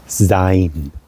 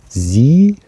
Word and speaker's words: sein: so to be in Germany is um called z s e i n s e i n